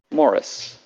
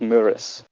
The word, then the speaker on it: Muris: No, it's pronounced Muris. I put a pronunciation guide on my own fucking thing. I didn't even say it. It's pronounced Muris. Put a pronunciation guide and everything for how to pronounce it. Didn't use it. It's pronounced Muris, the kingdom of Muris.